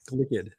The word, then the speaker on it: Glicked: was Barbie Heimer ick say it right glicked Glick glicked yes but I I